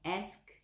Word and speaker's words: asked: Olha a pronúncia, asked, com o tzinho ali no lugar do ed, certo?